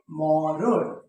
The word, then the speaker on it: মরণ: সবসময় দন্ত ন আসবে যেমন দেখো যদি আমি বলি মরণ দেখো তো এখানে কি আছে মূর্ধন্য ন আছে এটার উচ্চারণ কি হবে জন্য ন থাকলেও কোন ন হয় দন্ত ন হয় এটার উচ্চারণ হবে মরণ ওকে যদি আমি বলি দেখো